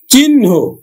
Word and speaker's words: চিহ্ন: পদ্য আর এটা কিন্তু উচ্চারণ হচ্ছে কিন্তু পদ। পদ। তারপরে দেখো চিহ্ন চিহ্ন এটা কিন্তু হ এর সাথে দন্তন্য তাহলে